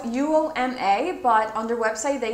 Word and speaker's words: Uoma: This one is called Uoma Beauty, and I know in my recent video I think I said it wrong because it is spelled U-O-M-A, but on their website they say that it's spelled Uoma.